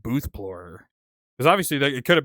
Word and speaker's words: BOOTHPLORER: someone telling me just remove the X from Explorer and just call it BOOTHPLORER. People will know because of like how the word is like pronounced, like Booth Explorer, BOOTHPLORER.